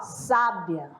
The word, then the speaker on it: sábia: sábia a sílaba mais forte tá na primeira é uma sábia e na segunda não